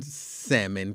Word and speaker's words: salmon: scared um but no he was saying salmon clearly and uh say say it say it for me okay yeah some people really hit that l hard yeah yeah they hit that l real hard thing too because my